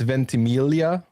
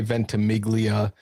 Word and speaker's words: Ventimiglia: Uh, traditionally it's Ventimelia. So that that Italian G is silent. Um, but most people will say Ventmiglia.